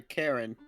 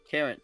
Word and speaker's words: cairn: a path around the Karen. Karen. Cairn. Like Cairn. Karin? Kairn. Cairn. Kyron. No, Cairn. Kern. Cairn. There's no letter between the R and the N. Also, it's like one syllable, not two.